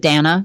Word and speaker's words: Dana: Dana Bash Dana Bash she pronounces it Danna Danna okay I'm fingers Dana